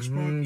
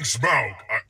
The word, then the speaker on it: Smaug: Are you hearing Smug? Yeah, that's what I'm hearing. I'm saying Smaug. I couldn't be any clearer. Yes. Like the word? Smaug. Like a smug look? Smaug.